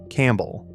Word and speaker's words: Campbell: Then around 1390, a Duncan Campbell starts inserting that silent P because Latin clerks had begun writing the family down as de Campo Bello.